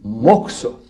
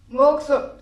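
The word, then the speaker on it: mokuso: Et ça, on dit moxo. Ça s'écrit M-O-K-U-S-O, moxo.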